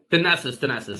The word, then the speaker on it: Thanasis: I think that's how you pronounce it, right? Thanasis, yeah. Thanasis, sorry.